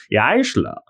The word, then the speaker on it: Jaissle: Okay, well, should we should we hear about the new coach, Matthias Jaissle? I'm told is how you pronounce this uh 38-year-old German's name.